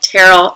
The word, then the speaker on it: Terrell: Terrell Owens, not Terrell. Terrell Owens. Look, T.O. They don't say things like they say. That's whatever. Alabama, say it right. Right, Terrell. It's Terrell.